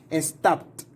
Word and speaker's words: stopped: P, the pronunciation is going to be like T. So stopped. Stopped, okay, like a T at the end.